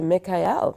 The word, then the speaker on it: Mekaiel: music Ministry so let's say good morning to Mikhail good morning to you good morning good morning